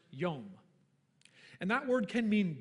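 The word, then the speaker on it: יום: In Hebrew, there are two words spelled exactly the same way, both of them pronounced yom.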